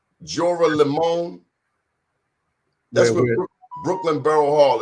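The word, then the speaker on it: Joralemon: name of that street i want you to pronounce like jorah lemon jorah limon that's what brooklyn barrel hall is 209 j-o-r-a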